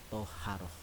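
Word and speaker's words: طهارة: Kemudian anakku semua, bahwa bersuci ini juga disebut dengan toharoh. Tulisannya taharoh, tapi kita bacanya toharoh.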